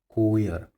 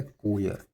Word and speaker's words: choir: देखिए फ्रेंड्स, ये होता है, इसका प्रोनाउंसिएशन होता है शाम, इसका प्रोनाउंसिएशन होता है कोयर, ठीक है, कोयर, CHOIR, कोयर।